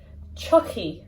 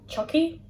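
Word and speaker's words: tiocfaidh: Tar, to come, changes to Chucky. It sounds like the doll, Chucky. So that's an easy way to remember it.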